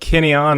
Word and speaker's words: Kineon: Forrest Smith, owner and CEO of Kineon. Am I pronouncing that right?